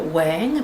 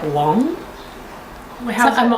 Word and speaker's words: Wang: I like to say Michelle Wang, but every podcast I watch calls it Michelle Wong. I don't know how you pronounce it.